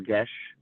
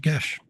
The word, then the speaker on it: geas: it's from I know I only learned like last year that it's from apparently Irish mythology, folklore, and they pronounce it Gesh. Gash. Interesting. Geas.